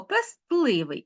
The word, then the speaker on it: пестливий: і уподібнення пестливий А ось в цьому слові ми ти вимовляємо чітко пестливий Ну тому що пестити і тому навіть у вимові спрощення не відбувається Запишіть будь ласка ось